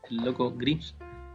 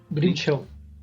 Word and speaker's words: Grimshaw: Se le consideraba el loco Grinch, ¿Cómo se pronuncia, Carlos? ¿Tú sabes mejor? ¿Grimshaw? Grimshaw.